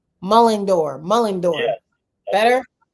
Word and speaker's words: Mullendore: actually mullor yeah yes mull like you're mulling like you're mulling around and a door so it's mulling door mulling door mulling door better y